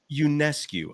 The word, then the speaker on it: Ionescu: Is that how do you pronounce her last name? I'm so sorry. Ionescu.